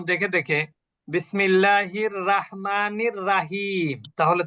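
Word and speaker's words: رحيم: এরপরে এখানে শুধু আমরা একটা ভুল করে ফেলি, রয়ের উপরে জবর থাকলে আমরা বাংলায় রয়কারে রা লিখি। যেমন অনেক জায়গায় দেখবেন বিসমিল্লাহির রহমানির রাহিম লেখে, রাহিম। কিন্তু আসলে কি হবে? রহিম। রহিম।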